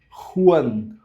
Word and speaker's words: Juan: A letra J ela vai suar como um R vindo da garganta. Então, por exemplo, tudo que eu falar vai aparecer aqui na tela. Esse nome aqui eu não posso ler Juan. Juan Ju, como a gente falaria em português. Ju, Juliana. Então fica Juan. Juan fica esse R. Ru como rua.